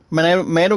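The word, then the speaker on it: Miter: Mater, guys, is pronounced M-I-T-E-R.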